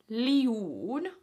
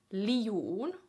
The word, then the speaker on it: liu'un: So the pronunciation of that word would be minä liu'un. Minä liu'un. Not minä liu'un. That's wrong. Liu, 2 vowels, un.